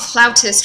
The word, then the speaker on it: flautist: Flautist, it's actually spelled like that. I never really knew why it was called flautist rather than flutist, but it is a flautist.